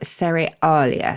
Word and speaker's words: Cerealia: There are many theories as to its beginnings, and one involves the Roman festival of Cerealia. So that's spelled like cereal, but with IA at the end.